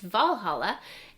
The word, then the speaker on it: Walhalla: Another thing that we picked up is this little bottle opener, and it looks like it says Walhalla, but it is pronounced Valhalla.